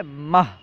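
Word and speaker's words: مه: تلفظ ہے آوریل۔ مئی، مئی کا فارسی تلفظ ہے ماہ۔ اس کے بعد ہے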